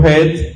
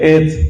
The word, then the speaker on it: Het: Digo Het porque en hebreo es con Het o con J española. Por eso pronuncio Het. En español dice Et, pero es mala traducción. En hebreo es con Het, que equivale a la J española. Por eso digo Het.